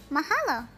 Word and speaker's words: mahalo: You say mahalo. Mahalo? Yes, your pronunciation is just right.